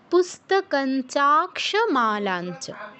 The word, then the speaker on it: পুস্তকঞ্চাক্ষমালাঞ্চ: পুস্তকঞ্চা, এখানে ইয়ের উচ্চারণটা কীরকম হয়? নয়ের উপর চন্দ্রবিন্দু থাকলে যেমন উচ্চারণ করা হয় তার কাছাকাছি, একদম এক্স্যাক্টলি সেটা নয়, এর কাছাকাছি। পুস্তকঞ্চাক্ষমালাঞ্চ।